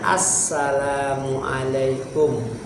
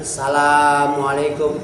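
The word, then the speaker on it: Assalamu'alaikum: dulu salam pertama asalamualaikum bacanya Assalamualaikum jangan assamualaikum assamualaikum jangan salam Assalamu asyamsiah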